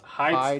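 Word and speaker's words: Heide: hide. Okay, it's pronounced hide, right?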